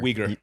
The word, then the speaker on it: Uyghur: Uyghur.